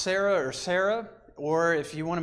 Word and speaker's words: Sarah: Well, it's still pronounced Sarah, or if you want to make it really technical, it's Sarai and Sarah, but it's still pronounced Sarah.